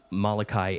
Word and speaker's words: Molokai: I'm not going to even attempt to pronounce it. Molokai. Molokai, that's it.